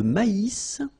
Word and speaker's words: maïs: Le maïs. So here you get this tréma. So maïs. Maïs. And then you pronounce the final S.